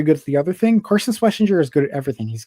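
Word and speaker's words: Carson Schwesinger: Yeah, Carson Schlesinger.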